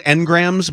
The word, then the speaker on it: engrams: them Bobby Ingram you're it's called engrams but it's spelled like Bobby Ingram Oh okay I always